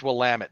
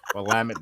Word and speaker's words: Willamette: It's Willamette, damn it. Willamette, damn it. All right. And on that note, what do we think of this Matrix movie? Well, it's Willamette, damn it.